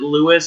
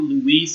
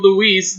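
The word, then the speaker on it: Luis: name was I said I pronounced it Louis it was probably Louise it was l u i s and this that this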